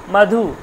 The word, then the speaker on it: মধু: হয়ে গেল মতো নয় আসলে মধু উচ্চারণটা হওয়া উচিত মধু মধু আর উটা যখন দীর্ঘ হয়ে গেল তখন বাধু বাধু বাধু পরিষ্কার তারপর এগুলোর ব্যবহার